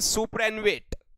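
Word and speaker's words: superannuate: Next word है सुपर एनुवेट। क्या भाई? सुपर एनवेट है हमारा नेक्स्ट वर्ड। और सुपर एनवेट का हम लोग याद करेंगे सुपर अनु और वेट से।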